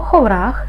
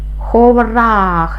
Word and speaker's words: ховрах: тож тепер перевіримо слово ховрах складається з двох складів перший звук х приголосний твердий наступний о голосний в приголосний твердий р приголосний твердий голосний х приголосний твердий ховрах наголос падає на другий склад наступне слово Хамелеон слово